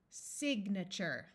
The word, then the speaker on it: signature: says ER Furniture Venture this a is going to schwa which means it will have a muffled uh sound signature the a in this word and the other versions of it with suffixes will also schwa mature we can add